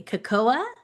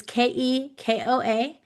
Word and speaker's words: Kekoa: a cast member named, and I hope I pronounce this correctly, Kakoa. It's Kekoa. He works in the Indiana Jones Adventure attraction.